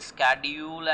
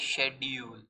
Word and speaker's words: schedule: See, schedule is a British pronunciation and a schedule is an American pronunciation।